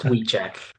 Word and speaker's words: Wiechec: It's pronounced Wiechec Well, very good.